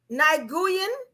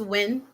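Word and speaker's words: Nguyen: Uh Niguian. Hope I said that right. No, that's when. So that's pronounced win.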